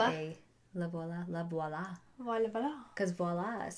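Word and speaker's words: Lavoila: l a v o i l a laola la VOA VOA cuz voila is spelled the o l so and so I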